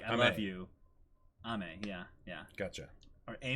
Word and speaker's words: Aimer: so so yeah wait is I'm her the wrong way to pronounce it aimer or aimer really Oh cuz it's yeah it's French oh ma it's ma oh okay cuz it it